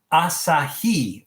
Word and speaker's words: Asahi: It's pronounced asah. Oh, thank you.